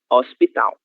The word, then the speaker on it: hospital: Letra L no final de sílaba tem som de O, hospital, ok?